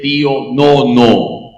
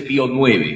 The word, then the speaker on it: Pío Nono: siempre me gusta explicar se dice pío no no Acuérdese los biscochos se escribe Pío romanos 9 Cómo se dice pío Nono ya así se dice pío Nono no se dice pío nu Cómo se dice pío